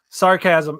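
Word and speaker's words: Sarchasm: that features trans members called Sarcasm, but chasm is spelled CHASM. So Sarcasm, yeah, they're awesome.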